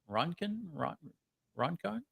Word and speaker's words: Roncon: Roncon? R-O-N-C-O-N? Yep. How would you guys pronounce that? Looks like Roncon to me.